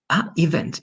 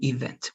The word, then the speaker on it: event: I think there's a change in the stress. Event or event. Event. In this case, it's going to be event. Why? Because there is a very similar word that can be confused with, that is even, right? Only even, that's going to be even, but this is going to be event. All right, even without the T and event with the T.